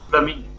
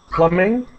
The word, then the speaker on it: plumbing: Plumbing, yes. Plumbing. Mm-hmm. Yes, it's for the next next time, because yeah. she lives 200 kilometers from. Okay. Right. We do not pronounce the B in that word.